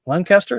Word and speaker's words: Lancaster: um yeah I just love that L Lancaster Lancaster is how you say it up there um